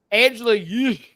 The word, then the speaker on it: Angela Yee: Angela Yee.